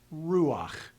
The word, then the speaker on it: ruach: So I'm going to hear the ah sound before I move into the final consonant, simply to smooth out the pronunciation. It's pronounced ruach.